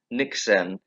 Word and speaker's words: Niksen: to ask you um you say your book nixon is that is that how it's pronounced yes it is um you say it's